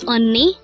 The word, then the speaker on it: 언니: voice on and the second syllable is knee pronounce it with me again a word for today is onni and this is used to say sister if